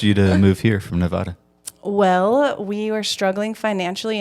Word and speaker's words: Nevada: It's not Nevada. It's Nevada. It's Okay, so Nevada. we're going to correct Spencer on her improper pronunciation of Nevada. So we Nevada.